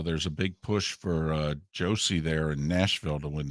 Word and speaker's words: Josi: Although there's a big push for Josie there in Nashville to win the Norris. Or Yossi, I guess they pronounce it.